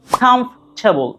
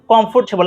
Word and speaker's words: comfortable: সো the first one ইজ comfortable, নট কমফোর্টেবল। আমার সাথে বলেন, ভেঙে বলছি। comfortable, comf, কটাকে খ, comfortable। ইংরেজি যে লেটারগুলো শুরুতে ক এর মতো উচ্চারণ হয় সেগুলোকে খ করে দিলে প্রনাউন্সিয়েশনটা স্ট্যান্ডার্ড হয়।